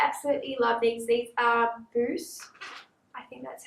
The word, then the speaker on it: Bose: These are Bose.